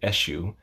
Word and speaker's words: Eshu: world and this is eshu i know it looks like eksu but it's pronounced eshu and the kimbanda of